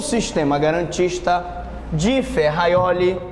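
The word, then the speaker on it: Ferrajoli: o sistema garantista de ferraioli atenção a pronúncia é ferraioli hum ele é representado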